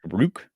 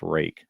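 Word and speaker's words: Ruike: It's called rake, I believe, even though it's spelled more like rook. Rook. But I believe it's pronounced rake.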